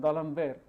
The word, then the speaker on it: D'Alembert: You should not pronounce it as if it is an English word. So, D'Alembert's principle in mechanics is the same person, D'Alembert, who was looking at